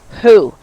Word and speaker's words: who: Whether the wh is pronounced w or h is depend on the vowel sound.